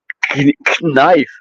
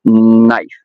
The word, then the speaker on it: knife: I was noticing that you don't pronounce the K.